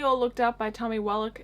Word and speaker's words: Wallach: Looked Up by Tommy Wallach. Is it Wallach or Wallach? I'm pretty sure it's Wallach, but I pronounced it Wallach when I first got this book, so whoops.